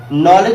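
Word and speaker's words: knowledge: तो कहने का मतलब है कि जब भी आपको एन से पहले के दिखेगा, के हमारा क्या होगा, साइलेंट होगा, ठीक है।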